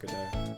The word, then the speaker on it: Godot: Always pronounced as Godot. No, it's supposed to be pronounced Godot. Like, as in waiting for Godot.